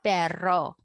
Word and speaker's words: perro: rolling rolling that r no R sound El Perro El Perro Barrel I I hope no by now you can already pronounce the rolled array the dog needs water